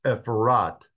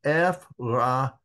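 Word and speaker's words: Ephrathah: Version calling this place Ephrat, because if you look over in the Hebrew version here, it is called Ephrata with a feminine ending, not Ephrat.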